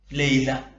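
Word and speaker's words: ليلة: ലൈല ലൈലത്ത് ലൈല ഉച്ചാരണം ലൈല.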